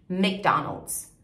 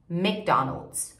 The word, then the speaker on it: McDonald's: Primeiro essa parte, né, que a gente fala Mac, a gente fala com E. Em inglês a gente fala Mick, McDonald's, McDonald's, ok? McDonald's.